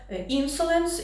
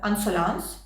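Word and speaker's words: Insolence: шпаргалку собі ще записала що інсуленс інсуленс - це тоді на англійській манер А якщо вимовляти французькою це буде ансонанс І це перекладається як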